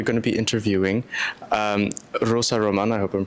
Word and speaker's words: Rosa Román: Uh the climate academy is in ISPRA today at the joint research center where we're going to be interviewing um Rosa Roman. I hope I'm pronouncing that correctly.